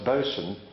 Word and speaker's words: bosun: said to me David I think you'll find it's bosun and fo'c'sle Thank You rusty I wonder why they don't spell it like that in the script and he said well